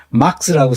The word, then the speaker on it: 막스: 이건 막스라고 써야 되는데, 막스. 발음이 마르크스와 전혀 다르죠.